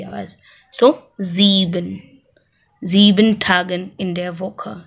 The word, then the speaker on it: sieben: Then sieben.